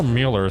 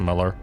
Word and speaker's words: Mueller: Is Lieutenant Colonel Mueller still inside the building? I think it's pronounced Muller.